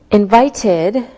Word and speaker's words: invited: Invited, invited, so it sounds like ID.